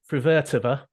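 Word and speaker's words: Fruhvirtová: The other player who caught my eye was Linda Frivertova. I think I got that pronunciation.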